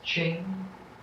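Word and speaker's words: 精: The Chinese pronunciation of the character for essence, Ching, combined with the Chinese pronunciation of the character for real, Chen, Ching, Chen.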